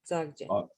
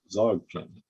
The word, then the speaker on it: Dzogchen: Dzogchen, it's called. You don't pronounce the D. Okay, Dzogchen. Dzogchen.